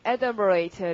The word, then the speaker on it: adumbrate: 강세가 앞이어서 발음이 adumbrate 랬고 이것의 뜻은 넌지시 그림자처럼 이렇게 실루엣처럼만 보여주다.